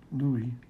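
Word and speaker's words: Louis: name is lwis but pronounced like the French King Louie and I guess because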